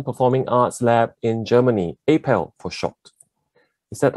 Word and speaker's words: APAL: Right, on to today's topic, translocal connections, introducing the Asian Performing Arts Lab in Germany, APAL for short. Is that how we pronounce it, Ming? APAL, is that how you guys pronounce it?